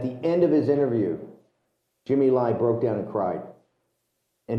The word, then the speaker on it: Jimmy Lai: Is it pronounced Jimmy Lai is the head of Apple News? Jimmy Lai?